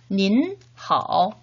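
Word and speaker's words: 您好: 그래서 닌하오 라고 인사를 해야 된다고 했었죠. 자, 그러면 이것도 3번 한번 머릿속으로 기억하면서 따라 발음해볼까요?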